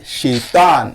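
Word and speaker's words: شيطان: C'est-à-dire Shaitan. Bon, je vous le prononce.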